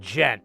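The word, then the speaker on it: djent: It's called Gent. It's spelled Dent.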